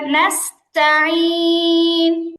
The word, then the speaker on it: نستعين: নাস্তাঈন আবার নাস, এখানে নুনের পরে এটা কিন্তু সদ না, এটা সিন। সদের মতো গোল করা যাবে না।